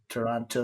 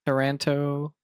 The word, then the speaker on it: Taranto: Yeah, I'm curious how that's actually pronounced. So Toronto. Taran- Taranto. Everybody I, said Toronto, even the excursion folks, and they would also make the comment, not the Canadian city. So so it's basically, pronounced Toronto is like the pronounced the same. same. Yeah, I could be wrong, but everybody said it like So Toronto.